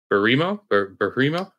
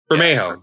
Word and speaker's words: Bermejo: Barimo? Okay. Yeah. You know what I'm talking about? Bermejo? Bermejo.